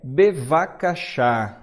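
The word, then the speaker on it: בבקשה: qualquer língua que é bevakasha b de bola v de vaca beva que a mesma letrinha mais pronuncia diferente né bevakasha bevakasha e por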